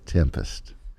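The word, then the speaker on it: 7empest: the song 7m pused I know it's spelled with a 7 but I had to say it but it's actually pronounced tempest drummer Danny Carey accepted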